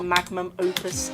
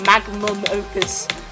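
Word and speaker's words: magnum opus: But I guarantee this is going to be like the maximum opus of high heart rates for me. I need to say it right. Magum opus.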